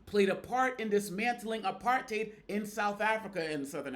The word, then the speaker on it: apartheid: that us Aid played a part in dismantling a parted in South Africa and southern Africa overall in South Africa now remember it's pronounced a parted not a part tied you know think hate apart I'm not going